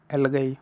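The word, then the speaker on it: algae: आप प्रोनाउंस्ड करोगे तो इसको एल्गाई न पढ़ के आप क्या पढ़ोगे, एल्गी।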